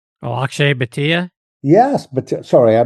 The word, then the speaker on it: Bhatia: The left-handed guy, Bahia? Oh, Akshay Bhatia? Yes, but sorry, I mispronounced his name.